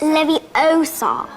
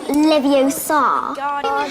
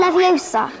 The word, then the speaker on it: Leviosa: Besides, you're saying it wrong. It's Leviosa, not Leviosa. Wingardium Leviosa.